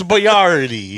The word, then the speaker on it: Boyardee: You put the emphasis on the wrong syllable, buddy. It's Boyardee. It's Boyardee. Chef Boyardee. It's Chef Boyardee.